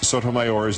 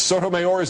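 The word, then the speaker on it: Sotomayor: ought to be limits putting the emphasis on the final syllable of sotoor is unnatural in English there are basically two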